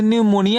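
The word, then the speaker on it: pneumonia: क्या रहेगा शैलेंद्र रहेगा तब यहां पी का उच्चारण नहीं करते हैं इसका उच्चारण यहां से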